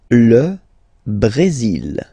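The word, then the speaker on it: le Brésil: L Brazil. L Brazil. Okay, you will pronounce the final L here.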